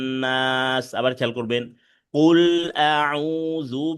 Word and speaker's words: أعوذ: কুল আউ, আউতে এক আলিফ টান আছে, পেশের বামে জজমলে ওয়াও। কুল আউযু বি রব্বিন, এই যে রব্বিন হরকতের বামে নুনে তাসদিদ ওয়াজিব গুন্না। রব্বিন নাস, আবার খেয়াল করবেন। কুল আউযু বি রব্বিন নাস।